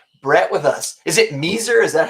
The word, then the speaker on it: Measor: with us is it miser is that how you say it i usually don't you know i it's i usually pronounce it uh me sir yeah me sir okay